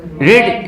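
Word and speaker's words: read: Form हमारा क्या है, रीड इज a first form and then we have to यूज a past participle form, यानी कि रेड। Spelling same होगी लेकिन पढ़ने की जो प्रोनाउंस होगी वो डिफरेंट होगी।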